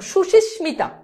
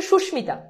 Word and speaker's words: সুস্মিতা: আছে উচ্চারণটা কি সুষমিতাযদি যদিও এটাকে অনেকে সুশীস্মিতা বলে। বাট এটার একচুয়াল উচ্চারণ হচ্ছে সুস্মিতা।